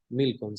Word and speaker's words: Milcom: pero también juran por Milcón o Milcom, no sé cómo Sí, se pronuncia. Milcom, sí, pero no tiene tilde al final.